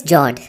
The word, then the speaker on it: fjord: The next one is Jord. The F word is silent when you pronounce it.